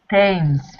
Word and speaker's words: Thames: Thames. It's not written the way it's pronounced. It's written Thames, but it's pronounced as if there's no H.